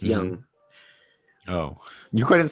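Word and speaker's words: Yonge: know how to say young street oh it's it's spelled y y-o-n-g-e but it's pronounced young oh you couldn't spell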